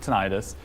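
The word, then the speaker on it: tinnitus: Um so the ringing in the ears commonly referred to as tenitis or some people pronounce it tonitis.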